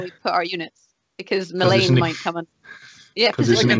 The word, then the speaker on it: Mithranor: I'm going to say Mithranor. That's what it's called now. Anyone who says otherwise is officially wrong.